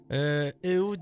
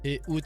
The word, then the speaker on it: Ehoud: Ehud, dis-moi, où est-ce qu'on peut te retrouver sur tes réseaux?